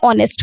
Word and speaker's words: honest: article n, just because its pronunciation is beginning with o, not h. H is silent over here, so it is beginning with the you can say vowel sound.